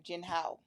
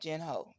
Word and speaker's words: Jinhao: Jinhao. Jinhao, not Jin Ho.